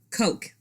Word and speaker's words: Koch: the name of Noel Koch. Koch. It might be Koch. It's both, actually. Some people pronounce it Koch, but the Koch brothers pronounce it Koch.